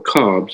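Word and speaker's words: Khabs: When he dictated the book of the law, the preterhuman intelligence Aiwass used the Egyptian word habas, or cobs as we pronounce it, and he made Crowley understand that this word meant star.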